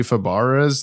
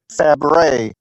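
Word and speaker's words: Fabares: I've been saying Shelley Fabara's this whole time and it's like I gotta look it up. I know. I've been I heard uh Susan Eisenberg say her name. Oh, I loved working with Shelly Blank. And I was like, "Oh, that's how you say that." Uh let's see. Fabre. Fabre. That's what it was.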